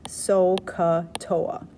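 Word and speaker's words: SOHCAHTOA: You could pronounce this SO-CA-TOA.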